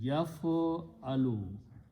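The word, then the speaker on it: يَفْعَلُ: we just learned that if I put a ya in the beginning and pronounce as yaf'alu, yaf'alu, it means he does, present tense and third person.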